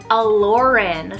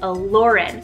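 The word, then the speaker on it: Aloryn: the boys side so what's the girl's name allurin spell a-l-o-r-y-n allurin so this was a twist on the hebrew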